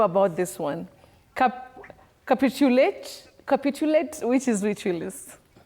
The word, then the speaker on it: capitulate: Capitulate which is ritualist. Oh, the stress is on the second syllable for that word.